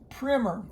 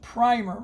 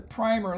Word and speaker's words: primer: the way that's pronounced primer in education field at least here in the United States in other parts of the world it would be pronounced primer it's not the primer like a paint primer it is primer and